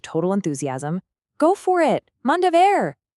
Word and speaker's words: Manda ver: Manda ver, pronounced Mandaver.